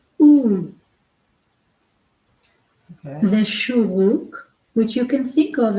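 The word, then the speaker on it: שורוק: The shuruk, which you can think of as a punch in the belly that makes you go. Okay, and it's spelled SHOO // SHOO /ROO-K. Sharuk.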